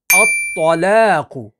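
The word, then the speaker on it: الطَّلَاقُ: आगे देखें, अत्तलाकु, अत्तलाकु, अत्तलाकु, तला, तला, तला, ठीक है। तो ता के साथ नहीं, ये रॉन्ग हो जाता है, अत्तलाकु, अत्तलाकु, अत्तलाकु, ठीक है।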